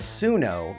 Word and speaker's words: Suno: Pronounced Sunno.